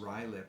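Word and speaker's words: Ruislip: So there's someone's from Ruslip, pronounced Rylip in the UK.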